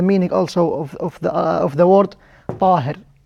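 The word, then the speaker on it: طاهر: This is the meaning also of the word Tahir. Tahir, not Tahir. Make sure to pronounce the ta, not ta. Here ta, not ta. Some people mention and pronounce the ta as a ta. It is not.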